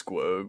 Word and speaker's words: Squoge: Cole so on Spotify and on YouTube it's squog which which is sqo G which everybody mispronounces but that's okay I know it's a